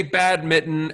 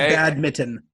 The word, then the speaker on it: badminton: I've never pronounced the N in badminton. So you say badminton as though you are referring to a pair of naughty gloves.